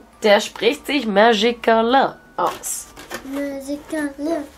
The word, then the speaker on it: Magicalin: Magicalin. Magicalin. So ja, heißt der. Der Teddy heißt tatsächlich so. Ich zeige euch mal die Packung. Oh, und der spricht sich Magicalin aus. Magicalin. Magicalin.